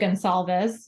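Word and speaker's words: Goncalves: Kaylee Gonsalves is how you say it.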